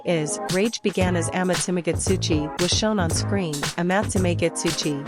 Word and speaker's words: Amatsumagatsuchi: Amatsumagatsuchi. Penny correctly pronounced the name.